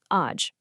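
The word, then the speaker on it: աջ: So right is aj, and it's pronounced just like it looks, aj.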